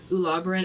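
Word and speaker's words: Ularboran: Ulabbran. I'll spell it for you guys.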